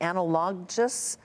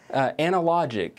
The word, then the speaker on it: Analogic: And finally, hopefully I'll pronounce this correctly, Analogous? Analogic, A-L-O-G.